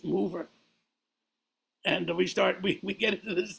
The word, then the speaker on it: Mover: We're playing a concert at this festival in Monterodoni, and he keeps insisting that my name is pronounced Mover. And I said, it's Mover.